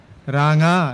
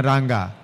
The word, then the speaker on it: রাঙা: কিছু উচ্চারণ গেছে কিন্তু যেমন রাঙা না রাঙ্গা রাঙা গ্রাম ছাড়া